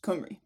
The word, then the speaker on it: Cymru: land and the population, they're spelt slightly differently, but they're both pronounced Cymru.